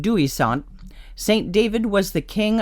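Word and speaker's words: Dewi Sant: In Wales, pronounced Dewy Sant, Saint David was the king of Ceredigion, one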